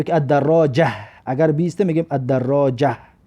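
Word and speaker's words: الدراجة: الدراجتو، الدراجتو یعنی که دوچرخه، یا که الدراجه اگر بیسته میگیم الدراجه. همین ته معنی است که دیدید در حالت ایستادن ه و مثل ه تلفظ می شود.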